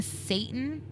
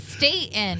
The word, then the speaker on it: Stayton: Joanna Satan is her name. That's You need to pronounce that T a little better. That first one. Satan. Statton. Staten. Yeah. Joanna Statton.